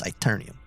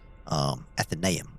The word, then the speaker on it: Athenaeum: And he's the one that built the Great Library, the Omnis Aeternium. All right? Athenaeum. Sorry, I mispronounced that.